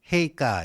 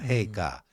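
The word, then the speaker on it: 陛下: 그래서 저는 뭐 일본에서 이제 유학을 했기 때문에 그런 걸 많이 봤는데 거기서 이제 폐하 일본 발음으로는 헤이카 이렇게 돼요. 헤이카.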